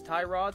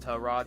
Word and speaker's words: Tyrod: else have been referring to this man as Tyrod since he entered the league and then one day a teammate of his came out and was like oh yeah by the way his name is pronounced tell Rod he's just too nice to correct anybody same